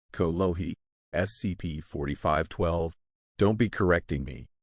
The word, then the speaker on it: kolohi: You little kologe, you. Kalama. It's pronounced kolohi.